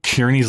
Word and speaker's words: Kearney's: He wanted there to be the emphasis on the first syllable. So in, Kearney's Lane, like it's a very harsh sound at the very beginning.